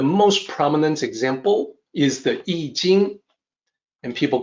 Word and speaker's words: I Ching: And please note, when I say I Ching, that is the way it is pronounced. It is also the way people are supposed to pronounce it using the Wade-Giles romanization system. It is not I Ching, it is not I Ching, it's I Ching.